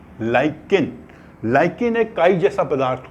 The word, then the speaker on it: lichen: Litmus क्या होता है कि एक प्लांट होता है LICHEN, इसको प्रोनाउंस करते हैं लाइकेन, LICHEN, लाइकेन।